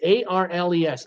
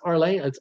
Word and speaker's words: Arles: Number 2 port is known as Arles, A-R-L-E-S, Arles, or Arles if you just pronounce each letter.